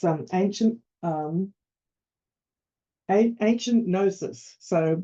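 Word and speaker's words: Knossos: s and it's um ancient um a ancient nosis so silent k so ancient nosis is a really great place to visit and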